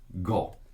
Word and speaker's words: 五: that is five right in japanese and you pronounce it go all right now if